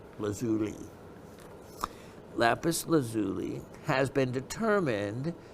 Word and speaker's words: lazuli: variety of what mineral lapis lazuli and that's actually the way it's supposed to be pronounced lazuli lapis lazuli has been